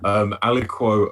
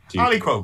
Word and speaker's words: aliquot: Aliquot. Saying aliquot apparently is how you pronounce it.